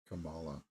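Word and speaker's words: Kamala: tell you for years my name is pronounced Camala yeah there's no reason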